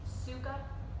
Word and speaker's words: sukha: In Sanskrit, we call them the sthira and the sukha in our practice. I'll spell those out for you. Sthira is S-T-H-I-R-A, and that means steadiness. Sukha, S-U-K-H-A, and that means ease.